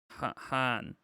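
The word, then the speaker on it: hän: A in Finnish is how Americans would pronounce A in can or dance. Okay, so han.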